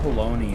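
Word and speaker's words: bologna: more satanic or devilish why is it called baloney if it's not spelled like that uh because it's Italian and their vowels are different than ours yes they look almost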